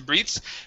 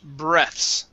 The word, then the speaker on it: breaths: Okay, here you were correct the first time. Okay, then you change it to breathes. This is breaths, short E, breaths.